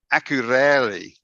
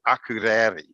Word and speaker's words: Akureyri: Another town, Akureyri. I spent the whole week. By the end, I finally could say Akureyri.